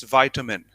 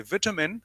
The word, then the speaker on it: vitamin: it's vitamin it's vitamin the differences of British English and American English in British generally they say vitamin what we have heard from our school time but in American they say vitamin what we come across nowadays on the internet on TV on news